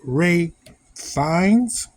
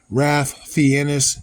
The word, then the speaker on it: Ralph Fiennes: Or if you're just an inner city kid who's reading the name for the first time way back in the day, Ralph Fiennes, and I'm lying because I pronounced it like that when I was an adult. I just didn't know.